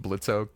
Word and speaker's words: Blitzo: get an arc for blitzo Blitz how dare you use the O I know I spelled it is silent I spelled it my